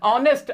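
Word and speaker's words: honest: इसमें भी आवाज वैसे तो एच है, लेकिन एच साइलेंट है, आवाज ओ की आ रही है, वॉवेल साउंड है, तो इसके साथ भी एन आ जाएगा।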